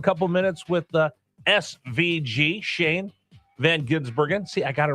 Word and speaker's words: Shane Van Gisbergen: Yeah, no, that was so although he just pronounces it the the the way it looks.